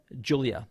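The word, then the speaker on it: Giulia: forget her name it's it's Julia yeah because it's spelled it's spelled with a G but yeah so it's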